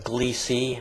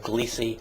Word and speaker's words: Gliese: gliese 581 i guess you probably now you're pronouncing glissie i guess it's pronounced according to the science you're supposed to pronounce it gliese 581 and the planet is gliese 581g this